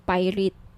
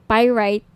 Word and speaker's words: pyrite: niyo ng bracelet ito yung pirate pyrite sorry pyrite yung iba pronunciation pirate pyrite Okay 1,980 each may